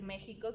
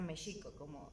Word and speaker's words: México: manera en que hablamos, en vez de decir México, que es con el sonido pues español, que sea Mexico, como lo pronunciaban los pueblos de Anáhuac.